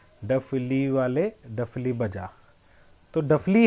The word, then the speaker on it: डफली: तो डफली है वो, हम उसको डपली भी बोल देते हैं।